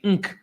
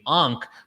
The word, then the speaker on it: Ankh: Well, did you know that A was silent in pre-dynastic Egypt? It was actually Nkh. They didn't even pronounce the A because it was too sacred. When the A became a part of language and it became Ankh, was a time where